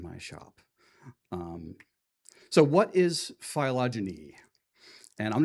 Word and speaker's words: phylogeny: to tell me if that is the correct pronunciation? Yeah. I'll take your blank stares. Oh, hey, somebody actually spoke up. Great. Phylogeny, all right.